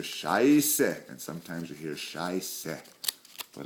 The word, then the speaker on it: Scheiße: But the common one is, the word for shit is Scheiße, and it's pronounced Scheiße.